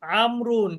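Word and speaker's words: عمرو: The proper name আমরুন is written with wow which is not pronounced. This is done to differentiation it form ওমারু।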